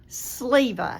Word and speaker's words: Sliva: Sliva. Sliva, like a shirt sleeve. Like Sliva. And I taught first grade one time, and I told my student, think about your sleeve and say Sliva.